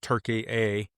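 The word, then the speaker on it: Türkiye: It's a site in southeastern Turkey, now pronounced Turkey A um as as of recent change, but um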